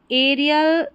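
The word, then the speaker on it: aerial: ए याद रख लें ए ई को हम ए पढ़ेंगे एरियल एरो प्लेन और एरोबिक यानी ए ई जो है इसको हमने पढ़ दिया ए आर को यहां पर आप मत जोड़ें।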